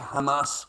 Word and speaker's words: Hamas: You know, a fucking doctor, mate, a senior doctor and a hospital is a Hamas headquarters. And that's a Hamas commander.